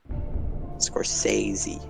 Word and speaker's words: Scorsese: Scorsese.